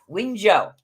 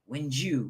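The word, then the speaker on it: Wunjo: so let's find out wio wio yeah I know they're pronounced very weirdly compared to how they're spelt okay so this looks like wiu it's not it's wio wio wio sorry anyways all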